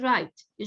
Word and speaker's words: right: يعني for example right, G وال HT بيجوا مع بعض بس ال pronunciation بس لل T, GH silent.